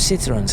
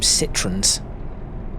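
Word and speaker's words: Citroën: know I don't know in the UK we call them citrons which I know is not the correct pronunciation for it but there we are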